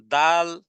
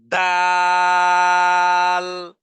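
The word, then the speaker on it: د: খালাক খলাক এরপরে হরফ দাল দালের উচ্চারণ হবে জিহ্বার আগা সামনের দুই দাঁতের গোড়ার সাথে লাগিয়ে দিয়ে উচ্চারণে আওয়াজকে কঠিন করে এবং উচ্চারণে ধাক্কা দিয়ে এভাবে বলতে হবে দাল দাল দাল আদনা আদনা পরের হরফ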